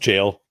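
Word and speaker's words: gaol: But yeah, they're just it's just pronounced jail. It's just the old British spelling of it.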